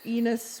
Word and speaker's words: Enos: got it uh thanks enos rhymes with penis you have a good